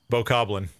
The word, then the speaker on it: Bokoblin: Bokoblin.